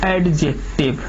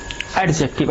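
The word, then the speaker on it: adjective: एडजेक्टिव, एडजेक्टिव में एडजेक्टिव, जब ए और जे के बीच, जब ए और जे के बीच डी आता है, डी साइलेंट हो जाता है, समझ में, एडजेक्टिव नहीं, एडजेक्टिव, ठीक है।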